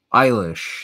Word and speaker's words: Eilish: Eilish, that's how you pronounce Billie Eilish, says Chabu P.